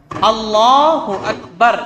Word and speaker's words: اللہ اکبر: تو صحیح تلفظ ہونا چاہیے، اللہ اکبر، اس طرح ہی ہمیں بولنا ہے.